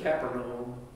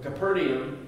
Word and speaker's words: Capernaum: Lord so Jesus came to Capernaum some people pronounce it capital that's the place right there almost nobody says Capital that would be incorrect but Capernaum that's a little picture of the archaeological site